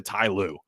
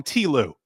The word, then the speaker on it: Ty Lue: Last night I was watching the Clippers and a lot of people call him T. Lue. And I'm like, T. Lue is the exact same number of syllables as Ty Lue.